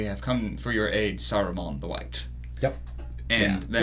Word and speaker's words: Saruman: Are we just gonna talk about the mispronunciations? and Aruman. Aruman instead Yeah.